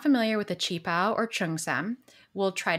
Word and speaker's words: qipao: as well if you're not familiar with the chi pao or chung sam we'll try to describe it